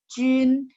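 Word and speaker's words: 军: Jun, Jun. Ingat JQXY ketemu U, saya bilang mulutnya masih bulat. Jun. Jadi dia bacanya Jun ya.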